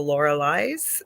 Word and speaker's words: Lorilei: But my name comes from German mythology called the Lorelei's. So that's why it's spelt like that, but said Hmm. Lorelei.